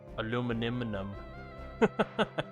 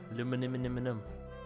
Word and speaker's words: aluminium: Aluminum. Aluminum. Or aluminium.